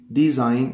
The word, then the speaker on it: design: Design. It is silent.